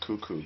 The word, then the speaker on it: Kuku: like oh what's that my last name is kuku kuku it's in the english language or not many ways that you could pronounce kuku so um i'm always baffled when people are like how do you say this is if they are hesitant to call someone cuckoo or say cuckoo because perhaps it has